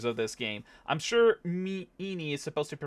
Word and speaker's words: Ini: I'm sure enie is supposed to be pronounced like eeny meenie miny miny.